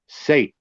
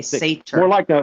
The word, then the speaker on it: seiðr: The Seiðr practices? I pronounce it as Seiðr. Seiðr. Seiðr. Seiðr. Okay, Seiðr. More like a TH, Seiðr.